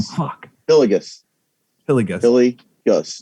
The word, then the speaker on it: Hillygus: Hillygus. Hillygus. Hillygus. You just put the hyphen, like if you were going to hyphenate it, Hillygus. it's between the Y and the G.